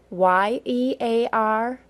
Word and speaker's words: year: in the word ear let's compare two very similar words ye AR and ei are see if you can tell which one I'm saying year that was year with a Y sound listen again year now